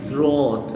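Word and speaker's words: throat: بصوا ثروت الحل اللي هو الحنجرة دي الزور.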